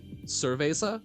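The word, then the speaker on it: cerveza: like uh it's I've always heard it as like seresa for beer but I know that it's more it's more of like uh yeah like thura is closer I think but I have a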